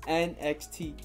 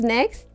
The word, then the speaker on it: NXT: is it next it's nxt you don't pronounce it as next no okay i'm pretty